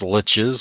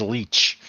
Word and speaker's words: lich: friends that pronounce lich as leech. Or leash. Yeah, no, Guess what? sucker. They're pronouncing it wrong.